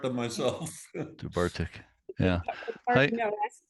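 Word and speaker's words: Dubh Artach: If I may butt in, I did ask a Scotsman one time about the pronunciation of that, and he said it was like Juvartic.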